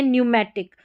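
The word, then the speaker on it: pneumatic: और जब PN से जब कोई भी स्पेलिंग शुरू होती है ना, PN से, तो भी P जो है ना वो साइलेंट रहता है, नहीं पढ़ा जाता।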